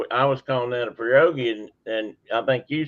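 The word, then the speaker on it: pirogue: you guys asked me about my spellings on perogi and that's how it's pronounced I check that too first perogi and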